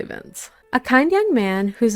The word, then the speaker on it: Vinch: Is his name Vince or Vinch? Cuz it's spelled like Vinch, but we're going to say Vince.